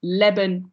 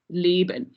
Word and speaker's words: leben: Then there are the frequent changes, but not universal, and that's the mainly audible one is the lengthening of the vowels in open syllables. So leben becomes leben, and that's the main